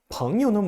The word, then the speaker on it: 朋友: 朋友는 뭐예요? 朋友는 친구예요. 붕우유신이란 말 있죠? 우리나라에도 붕우유신에서 친구끼리는 신의가 있다라고 하는데 그 붕우 할 때 그 두 글자가 바로 朋友입니다. 朋友할 때 요자는 조금 약하게 경성어로 발음합니다.